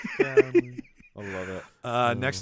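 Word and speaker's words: Sctanly: yes um oh okay it's Stanley spelled with a c and an ey y at the end so it's on if being spelled s c t a n l y Stanley Stanley I love it uh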